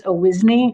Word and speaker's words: Owisney: Hi, my name is Owisney. It rhymes with Disney, and we are located at 16665 Topping Way, directly across the street from this proposed plan.